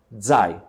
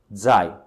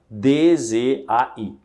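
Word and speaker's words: zài: e a letra J portanto quando você tem este pininho aqui a pronúncia correta é design Ok design não é zai Ok como se fosse dzai e quando você tem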